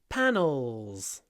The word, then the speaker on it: panels: is made of wooden panels when you say panels panels s s try to get this dark at the end o panels panels not panels panels in your throat panels dark L uh the next